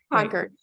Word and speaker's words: Concord: widows of Concord right am I pronouncing conquered correctly conquered correct conquered and that support group